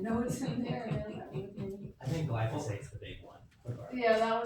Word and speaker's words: glyphosate: didn't have as much how do you say, glyphosate in it?